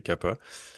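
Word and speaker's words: कफ: Puis ensuite, il manque le troisième, c'est Kappa, que certains prononcent Kappa, mais en sanskrit, il n'y a pas de F, fait que c'est Kappa.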